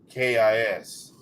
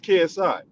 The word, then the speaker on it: KSI: named k-i-s Jake Paul I thought it was KSI yeah KSI yes yeah I I pronounced that person but yeah that's who I was talking about you might as well call him kis but uh yeah man